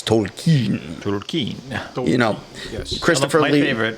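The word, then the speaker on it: Tolkien: pronunciations where it's not it's not tolken it's Tolen Tolen you know Christoph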